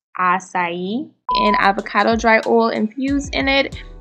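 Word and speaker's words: açaí: so this is not pronounced okay this is pronounced acai and avocado dry oil infused in it and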